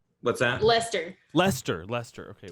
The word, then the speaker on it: Lester: bye it is uh laster it's pronounced what's that lester lester lester okay like lester holt let me uh oh